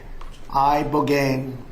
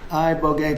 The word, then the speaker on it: ibogaine: Ibogaine. Remember the name. Is that pronounced relatively properly, would you say? Yes. I don't want to get it wrong. Ibogaine cuz it's so important and experienced an 80